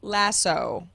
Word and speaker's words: lasso: o that's right now I say lasso because it ends in an O and that's how you say the word with the the the